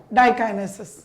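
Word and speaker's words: diakinesis: Zygotene, pachytene, diplotene, right pronunciation बच्चा ऑल ऑफ यू, डाइकाइनेसिस।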